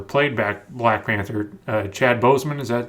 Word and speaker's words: Chadwick Boseman: plays black panther played back black panther uh chad boseman is that how you pronounce his name yeah i think he's chadwick bowles chadwick boseman guy had cancer guy had and he looked